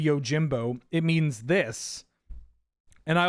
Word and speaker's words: Yojimbo: If I pronounce Yojimbo as like Yojimba, you can tell me. You can be like, hey Ben, that word's actually Yojimbo.